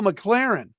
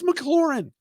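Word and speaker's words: McLaurin: pronounce Terry mcclaren's name oh McLaren no it's McLaren it's one of the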